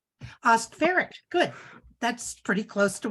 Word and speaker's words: Oskvarek: It's pronounced Oskvarek. Oskvarek, good.